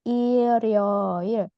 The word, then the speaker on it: 일요일: Nah, dibacanya 일요일. Jadi bukan 일요일 ya. R-nya nyambung ke atas langsung.